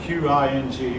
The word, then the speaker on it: Qing: by the qing dynasty that spelled q-i-n-g will pronounce the qing and your book then